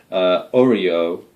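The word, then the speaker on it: Oeroe: Oreo, it's kind of like an Oreo cookie, Oreo, and the dwellers in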